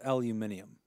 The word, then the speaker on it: aluminium: body flux capacitor final answer is it a aluminum B 10 C uh treated iron D stainless steel or E gold stainless steel Final Answer o aluminum I believe it's pronounced aluminium but thanks for playing I will go with